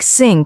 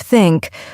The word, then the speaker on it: think: the learner's native language for example the th sound in words like think and this many Learners pronounce it as s or Z like syn instead of think or ziz instead of